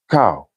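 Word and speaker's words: kꜣ: In Egyptian, ka would be pronounced cow, which means high, above, elevated, etc.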